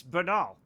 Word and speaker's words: banal: Is it Bal is pronounced ba is in bay and null is in it. It's banal.